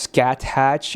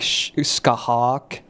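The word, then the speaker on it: Scáthach: It's like, you know, it's not pronounced scat hatch. It's like skahak.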